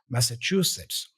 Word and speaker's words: Massachusetts: Master true sits so Massachusetts Massachusetts practice each part separately and then join them pay attention to the CH sound as in true visualize the state's name